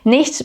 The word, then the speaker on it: nicht: Nicht becomes just nicht, so you don't pronounce the T.